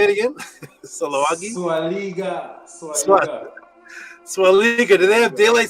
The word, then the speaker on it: Sulawesi: Sulawesi.